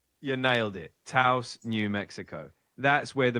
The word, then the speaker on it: Taos: Taos, New Mexico.